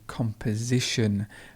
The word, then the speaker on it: composition: the end to comply to compose to compose and then you would have a composition please note there's a big stress difference here so you have